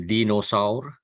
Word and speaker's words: dinosaur: is dinosaur it's a we pronounce it as Dino sour spelling is the same